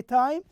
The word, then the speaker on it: time: we say also time why do we say time there is an e at the end this rule will help